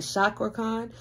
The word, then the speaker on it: Cakra Khan: yeah you guys said it is pronounced with a ch so it's like chakra khan you know i don't